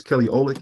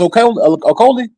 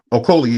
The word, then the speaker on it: Okolie: I think his name is Kelly Oleg, if I'm saying it correctly. Oh, you talking about Lawrence Okolie? Okolie, yeah, sorry, Okolie. I'm saying his name.